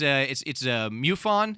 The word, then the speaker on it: MUFON: It's MUFON. Is that how you pronounce it?